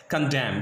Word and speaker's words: condemn: रहा होगा कि आपको एन लिखा हुआ है लेकिन एन पढ़ा नहीं जाएगा because N इज a silent. N क्या है यहाँ पे? साइलेंट है। तो साइलेंट वर्ड होने की बुनियाद पर यहाँ पे हम एन को नहीं पढ़ेंगे।